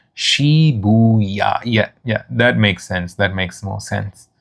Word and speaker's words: Shibuya: Oh yeah, that's a nice way of pronouncing it, Haps. So you say when you teach them, it's Shibuya.